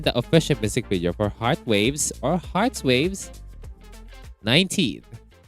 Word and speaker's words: hrtz.wav: This, once again, the official music video for Heart Waves or Hearts Waves 19. On Korean, they pronounce it as Hatsweav. according to Papago.